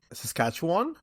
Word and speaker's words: Saskatchewan: that took off in Saskatchewan. Is that how you say it? Saskatchewan. Yeah. In Canada.